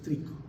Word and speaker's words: tricho: Cuando dice tricho es trico, se pronuncia que trico, ¿no?